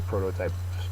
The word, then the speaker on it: prototype: um there obviously were prototypes before this but this is where all the other iPhones were kind of based off of this uh phone so a prototype is a noun first syllable is accented it is an original